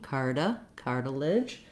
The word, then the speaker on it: cartilage: Then this letter T says more of a D sound. It's actually a flap because it's between two vowels and it's unstressed. It's followed by an unstressed syllable in this word. So think about it like a D, cartilage. This letter I has a schwa sound or maybe an I sound. It's a reduced vowel, so you want to